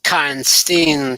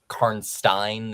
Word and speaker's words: Karnstein: The technical pronunciation is closer to Frankenstein, so more Karnstein than Karnstein, but you know. It's Karnstein.